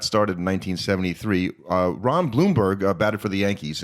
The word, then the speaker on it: Blomberg: Bloomberg instead of Ron Bloomberg like what's up with that it looks like blomberg but it's pronounced Bloomberg anyway he's kind of